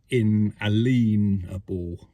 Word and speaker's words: inalienable: is one of your inalienable rights human rights isn't it and there's a few of these inalienable rights or um really it should be pronounced in a leanable right um which means you